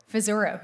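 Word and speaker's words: Pizzuro: Pizaro. Is that how you say it? Pizaro.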